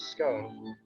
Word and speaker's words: scone: wanna make clear that the correct pronunciation is as in swan so i don't want